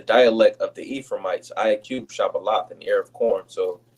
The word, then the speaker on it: Shibboleth: And he said, When you go to the word Shibboleth, Shabbalah, mhm, and Sabbalah, those going to Shabbalah is the correct way to say it. Sabbalah is the uh, Ephraimite dialect, which we'll get, Lord's willing.